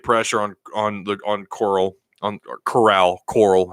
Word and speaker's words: Corral: on the on coral corral Coral Harry pronounced his name sound like sound like the walking dead coral Coral you don't know